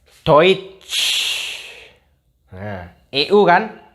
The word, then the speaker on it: Deutsch: Nih, EU bacanya OI. DOI. Do terus doi terus tambah T. Doit. Terus tambah sh. Deutsch. Nah, Deutsch. Deutsch. Bukan Deutsch. Beda ya. Deutsch sama Deutsch. Nah, itu kan beda. Jadi ini bacanya Deutsch.